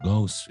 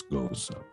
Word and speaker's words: Gose: I know it looks like it's spelled Gose. It's not. It's Goza.